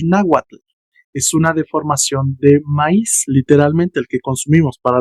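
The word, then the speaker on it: maïs: Sin embargo, también existe la palabra con diéresis sobre la i. ¿Y cómo se va a pronunciar? Maíz.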